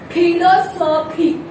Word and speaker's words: philosophy: But in here it is PH. I would like to pronounce it as philosophy. Philosophy. Is my pronunciation correct? No. Why is my pronunciation wrong then? Why? Because here this P is giving sound of F.